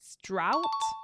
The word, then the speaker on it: drought: on all the time was Dro drought not Dro another one is yach